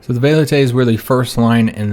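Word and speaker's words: velites: line was called the velates some pronounce it waylette's because i think the i think the v is supposed to be pronounced with that w sound but i think most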